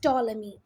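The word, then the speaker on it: Ptolemy: ये है क्लेडियस टॉलेमी। ये पी को नहीं पढ़ना, पी यहाँ साइलेंट है।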